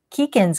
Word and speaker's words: Keegan: Actually, while I find Avery's question, I'm going to ask Keegan's question. Keegan rhymes with beacon, like beacon of light.